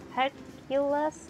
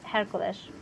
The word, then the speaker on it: Hercules: hope not Mullen oh how do I pronounce it in English Hercules Hercules okay you know what in Hungarian it's Hercules okay and you're going to